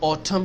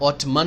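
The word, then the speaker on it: autumn: है पत्ते गिरते हैं तो उसको ऑटम कहते हैं ऑटमन नहीं कहते एंड साइलेंट है कुछ कंट्रीज में दो मोस्ट मौस में होती हैं।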